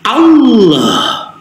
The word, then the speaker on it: Allah: Ya, huruf H ini makhrajul hurufnya al-halqi bagian bawah sama dengan alif, dan sifatnya ini adalah rokhwah, mengalirnya suara. Allah, Allah.